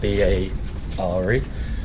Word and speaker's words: Bare: adventure we're going to bear grill pronounced ba re and they do a